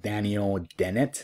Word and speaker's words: Daniel Dennett: All right, so this is a reference to the book Intuition Palms from Daniel Dennett.